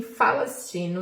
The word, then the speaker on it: Falastina: Porque não existe o som de P na língua árabe, então eles não conseguem nem pronunciar Palestina, eles falam com a palavra F, Palestina. Eles transformaram a Palestina em Falastina, uma entidade ficcional.